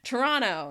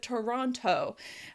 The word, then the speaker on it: Toronto: Toronto instead of Toronto. We pronounce these things faster because they're words we use a lot.